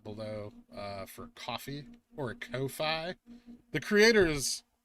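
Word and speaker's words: Ko-fi: link for that below uh for coffee or Kofi the creators say it's pronounced coffee but I don't think you can make up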